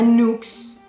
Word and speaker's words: Nuxe: Es una crema europea, se llama Nux, se escribe Nuxe, esta.